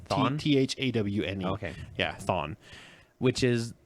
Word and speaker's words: Thawne: Or it's spelled a little bit differently. Thawne, actually. Thawne? It's Thawne.